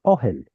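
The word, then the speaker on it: אהל: So this is the U that in Hebrew dialect turns into an O vowel. Ul. That's hard to say. So let's put a segol there and make it easier. Ohel.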